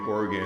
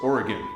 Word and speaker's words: Oregon: Don't say Oregon. That that will let people know you're an out of towner. It's Oregon. Okay? It's like O R E G I N, not O.